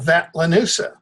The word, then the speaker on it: Vatlanusa: District of Columbia that I call Vatlanusa, rhymes with Medusa. Vatican, London, USA. Okay.